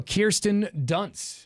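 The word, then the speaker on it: Kirsten Dunst: Kirsten Dunce is how you pronounce her name.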